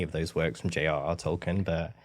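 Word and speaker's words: Tolkien: Tolken, I think is how you say it.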